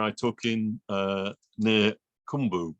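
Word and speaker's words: Qumbu: took in uh near kumbu which is pronounced with a click in South Africa in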